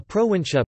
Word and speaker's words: prowincja: be looking for administrative divisions of Poland a pro in chat polish pronunciation PR VIN SJ a plural proactive ition